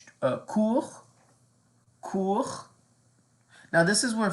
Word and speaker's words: court: And then you could say court. Court. Now this is where French is a little different than English. Just know that we don't pronounce all consonants at the end.